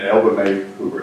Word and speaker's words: Elva Mai Hoover: So, and Elva May Hoover, is that correct how you pronounce it?